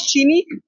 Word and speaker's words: Gini: नो श अ गुज्जू सो spell जीनी बट its pronounce चीनी या कैन यू शो